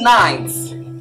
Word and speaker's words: knight: queen is called a night night this is where it also sounds like night when it's time to